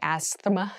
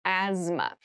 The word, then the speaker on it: asthma: cavity deep cavity asthma asthma Asma so this word has very interesting spelling there's a th in the middle but we don't say Asma we say asthma so kind of ignore